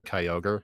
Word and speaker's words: Kyogre: I remember how the guy pronounced Groudon and Kyogre.